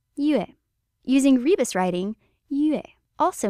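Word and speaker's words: 月: This logograph means moon, which happens to be pronounced yue.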